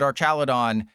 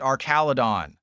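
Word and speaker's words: Archaludon: single official piece of media calls it Archaladon, the anime called it Arcaladon.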